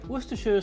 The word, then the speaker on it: Worcestershire: I'm sorry, Worcestershire sauce. That's how they say it.